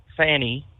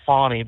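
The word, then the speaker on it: Fani: And if anyone else outside of the party like Leticia James or Stacy Abrams or Fanny, I don't want to call her Fawnie because it doesn't spell it that way.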